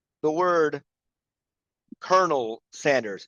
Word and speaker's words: colonel: Uh Natalie, you pronounce the word Colonel Sanders. It's Colonel, not Colonel. I don't even So Colonel is a rank in the military, right? So it's not pronounced how it's spelled, right? Colonel.